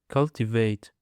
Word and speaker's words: cultivate: Now, let's go to the last word, which is cultivate cultivate It is a three syllables and the stress is on the first syllable.